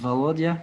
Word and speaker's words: Volodia: Et pour la blague, en fait, Volodia en russe, ça se prononce Volodia et c'est le diminutif de Vladimir.